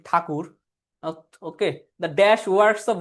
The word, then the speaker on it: ঠাকুর: হ্যাঁ, আমরা তো ট্যাগর, আমরা উচ্চারণ করি কি ঠাকুর।